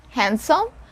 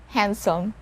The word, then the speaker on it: handsome: word is handsome handsome so it's not handsome we don't pronounce or we don't sound the letter d here handsome we stayed in handsome